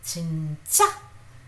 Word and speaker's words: 진짜: That's why I said in 진짜, j, 진짜. The first one is softer. 진짜, j, j, j. This is stressed out. This is tensed. You tense your throat a little bit, and that is how it is.